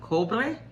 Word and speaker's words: Cobre: In Cuba, I think she is the Virgin of Cobre. That's how you pronounce it.